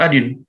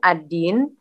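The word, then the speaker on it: один: Shirsot, sorak ajin. Sorak ajin. Ingat, D di pronounce-nya J, kalau dia nggak kena penekanan. Kan adin, adin.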